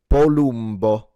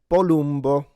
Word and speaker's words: Palumbo: His surname is Italian and it's pronounced Bolbo. Bolo.